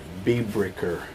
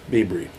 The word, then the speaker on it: Biebricher: You'll find him on the interwebs as Nick Biebricher, Biebricher. Bieber. I always mispronounce it because I try and say it phonetically. It's right. Biebre. It's Bibry.